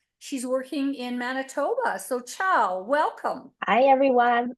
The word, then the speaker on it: Chao: So Chao, welcome. Hi everyone. My name's Chao. It pronounced like the Italian goodbye, Ciao, just in case you wonder.